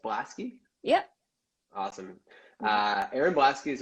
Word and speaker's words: Blaskie: your last name's pronounced Blasky?